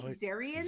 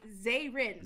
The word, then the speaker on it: Zayrin: Yeah, you always call me Zarian. Zarian, yeah, that's what it looks like to me. No, it's Zayrin. Zayrin. Think Mayrin, but just Z.